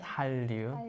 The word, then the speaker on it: 한류: The Korean way, 한류. 한류, but it when you actually say that Hallyu, so it's even written like Hallyu in English, so that's a bit different.